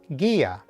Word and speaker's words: guía: And 2, the sound of this syllable needs to be separate from the next syllable, which in this case is only one letter, a. So, if we put this all together, the pronunciation would be guía.